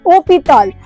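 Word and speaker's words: hôpital: जो बेसिकली जो अब एच है वो फ्रेंच में यूज़ नहीं होता है। ठीक है? तो इसकी जो प्रोनाउंसिएशन है ये होता है ओपीताल।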